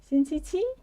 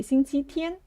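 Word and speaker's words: 星期天: Xing qi How about Sunday? How do you say it? Xing qi qi? Right? Actually, we say xing qi tian or xing qi ri. It's different.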